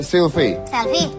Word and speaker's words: Selvi: Tapi kisahnya adalah bahwa Gibran ini akan menikah dengan Sylvie. Itu tulisannya Sylvie. Itu tulisannya kalau bahasa Inggris bacanya Sylvie. Kalau tulisannya pakai ejaan Inggris SELVI jadinya Sylvie.